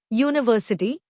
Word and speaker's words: university: Explanation: although university starts with the letter U, it has a consonant sound as in university, so A is the correct article.